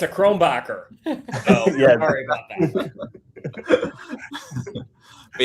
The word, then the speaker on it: Krombacher: It's pronounced Krombacher. So they actually serve that at my favorite pizza place in town. My husband often enjoys a Krombacher.